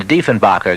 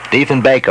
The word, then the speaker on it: Diefenbaker: Minister of Canada, John Diefenbacher. Good afternoon, sir. That's not the right pronunciation either. All right, I'm sorry. Baker it is. Diefenbaker, I'm sorry, sir.